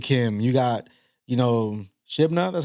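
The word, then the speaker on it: Shebna: you got Elliot Kim you got you know Shibna that's how you pronounce his name you know uh all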